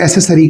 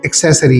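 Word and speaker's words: accessory: इसी तरह एक और वर्ड है एक्सेसरी, इसे हम एसेसरीज कहते हैं या एसेसरी कहते हैं, तो ये एसेसरी नहीं है बल्कि एक्सेसरी है।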